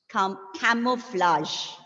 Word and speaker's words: camouflage: Though it is, yes, though it is ending with GE, the pronunciation, yeah, the ending sound is sh, camouflage. Not sh, actually, sh, camouflage.